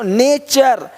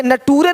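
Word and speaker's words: nature: देखो नेचर, यहाँ पे नटूरे नहीं बोलते, नटूरे नहीं नेच, है ना।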